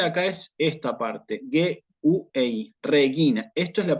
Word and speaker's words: regina: Que tengo yo aquí, esta, la voy a pronunciar propiamente como regina, regina. Algunos estrictamente dirían regina porque la R se suaviza, pero en realidad en realidad no se cumple eso y aquí se dice regina.